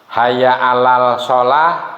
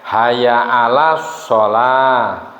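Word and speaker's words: حي على الصلاة: Hayya alal sholah dibacanya hayya alas sholah. Hayya alal falah ya hayya alal falah, benar. Tapi kalau hayya alal sholah dibacanya hayya alas sholah, masuk ke shod ya.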